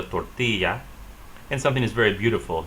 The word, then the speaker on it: tortilla: The double L sounds like Y in Spanish. The word she is pronounced ella. Or that cheesy thing you get is called a quesadilla. The wrapping around a lot of those things you eat is called a tortilla.